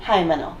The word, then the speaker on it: Himeno: It's actually Himeno. It's Hy. They spell it wrong in these dubs versus what Toei's official is.